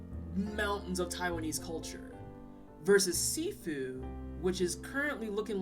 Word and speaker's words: Sifu: still says seafood sifu it's sifu i've been saying it wrong okay the game is called sifu not seafood got it cash was coming